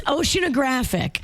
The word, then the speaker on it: oceanographic: It's oceanographic. But if you say it fast, you go through that middle O really fast. You're saying it slower, so you're breaking it down into more syllables. You're both correct.